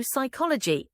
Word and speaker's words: psychology: scientific terms examples o psychology ilman o pneumonia in words starting with PS or PN the p is silent the why do we